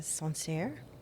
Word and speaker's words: Sancerre: Yeah, I'm also drinking a Sancerre.